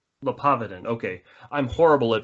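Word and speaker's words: Le Poidevin: I'm going to mispronounce his name, but Robin Lee Padevin gives what he called a modal atheistic argument. Yeah. Or something similar to that. Robin where he says, say again? His name is Robin Lepotovin.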